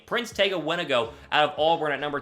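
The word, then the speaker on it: Wanogho: It's pronounced Wenago is how you say his last name. Prince Tega Wenago out of Auburn at number 210 overall in the 6th round.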